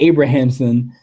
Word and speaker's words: Abrahamson: how you pronounce it I was about to say Abrams but it's not Abrams no relation to the JJ um Lenny Abrahamson and um yeah man